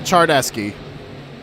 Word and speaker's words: Charneski: Charneski, is that how it's pronounced? Yeah, Charneski.